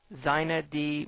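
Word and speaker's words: xinetd: configuration and protocols and it talks about inetd zet d bems and ethernet sort of generic uh but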